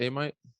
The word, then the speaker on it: Amite: It's a little different than, was it Amite, Louisiana? Is that how you pronounce it? Amite?